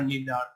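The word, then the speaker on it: neither: এটার উচ্চারণ কিন্তু আইদারও হতে পারে, নাইদারও হতে পারে, সমস্যা নাই। ইদার নিদার, আইদার নাইদার দুটোই উচ্চারণ আছে, আপনারা যে কোনোটাই দিতে পারবেন, কোনো প্রবলেম নাই।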